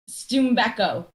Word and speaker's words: Tumbeko: Is it Tumbeko? Stumbeko, correct. So like the I, yeah.